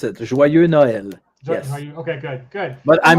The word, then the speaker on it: Joyeux Noël: I think Joyeux Noel. Yeah, that's about as good as you could pronounce it. Joyeux Noël.